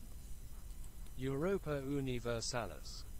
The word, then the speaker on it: Europa Universalis: universalis oh my goodness how do you even pronounce the title let's find out what it is I don't know Europa universalis Europa universalis apparently that's